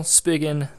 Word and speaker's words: Spigen: So first of all, Spigen, that is how you say it apparently.